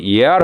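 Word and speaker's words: year: বিএ, তাও তো BA first deer শব্দটাই সবাই ব্যবহার করে। কিসে পড়ছিস? ফার্স্ট ডিয়ারে পড়ছি। ওটা যে ইয়ার হবে, বর্ষ হবে, প্রথম বর্ষ, দ্বিতীয় বর্ষ, সেই উচ্চারণগুলোও ভুল থাকে, খুব দুঃখ লাগে এগুলো।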